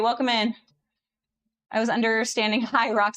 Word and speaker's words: Hyrox: Hi, Rox. Yeah, a lot of people spell it like that. Hyrox. Yeah. H Y R O X. It's not It's not a word. I didn't know what it I I was calling it Hydrox for like the first month